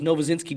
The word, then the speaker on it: Novozinsky: My last name is Novazinski, dude.